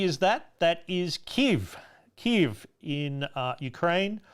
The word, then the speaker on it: Kyiv: Kyiv in Ukraine. We say Kiev. Kyiv is closer to the relevant pronunciation there.